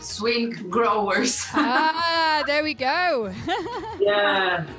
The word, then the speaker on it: Swingrowers: name because she's heard various people try to pronounce it swing rowers and swin growers which i think both are